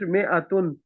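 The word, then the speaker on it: مائة: Note that in mi'atun, the alif is not pronounced. It is pronounced mi'atun.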